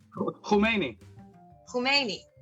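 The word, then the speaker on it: Khamenei: call for resignation of Kamini is how you pronounce it Khomeini who may me it's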